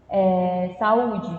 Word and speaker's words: saúde: Saúde, no caso, né? Equador. Saúde tem um acento, né? Então a gente sabe que a sílaba seria o U, né?